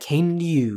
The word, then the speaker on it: Kainen Yu: That Kainen Yu is 2 syllables.